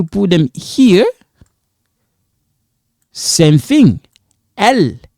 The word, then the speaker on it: elles: Elles sont. Now this one is silent.